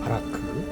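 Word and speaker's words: ברך: 복주다라는 말은 바라크입니다. 바라크. 바라크라고 이렇게 읽어요.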